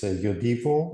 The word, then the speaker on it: Yodiwo: Yeah, first of all, you pronounce the name very well. It's Yodiwo with this Swedish accent because our roots are from Sweden.